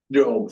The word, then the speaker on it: Job: Joe, it's pronounced Joe. Joe, say Joe.